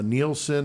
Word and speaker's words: Nilsen: the kindly killer uh Dennis Nelson uh neelsen as I've heard it pronounced as well um but